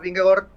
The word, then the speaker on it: Vingegaard: el sembla que el Vingegaard, que per cert m'han dit que s'ha de pronunciar Vingegaard. Vingegaard. Sí, no Vingegaard, sinó Vinge fa Ving i Gaard fa Gord.